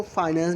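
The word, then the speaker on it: finance: जो फिनांस minister है, एक को फाइनेंस भी पढ़ते हैं या फिर फिनांस भी पढ़ते हैं, राइट। कुछ लोग फाइनेंस पढ़ते हैं एंड कुछ लोग फिनांस पढ़ते हैं, बल्कि सही जो प्रोनाउंस करते हैं उसको हम फिनांस ही बोलते हैं, राइट।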